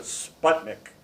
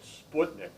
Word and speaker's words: Sputnik: It was called, most people called it Sputnik, but my family's from Russia, so I pronounce it Sputnik, which is the way the Russians do.